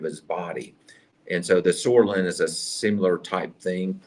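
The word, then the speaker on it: psoralen: So that P is silent.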